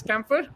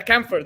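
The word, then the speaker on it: Campher: uh Mr Curtis uh Curtis camper if I'm uh for pronouncing it correctly uh from Ireland today yeah camphor that's how you pronounce it so he was sorry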